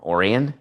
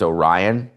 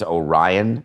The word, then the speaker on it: Orion: If you have not seen the highlight, what did I call him? Orion? It's Orion. Orion. It's Orion. I'm sorry. Orion. I would always pronounce that Orion, but okay.